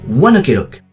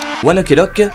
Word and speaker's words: ONE OK ROCK: par mon groupe préféré, Oneelock. Oneelok est un groupe de rock japonais créé en 2005 par quatre adolescents. Le nom du groupe provient de la prononciation japonaise de One Olock qui se prononce oneock qui était l'heure à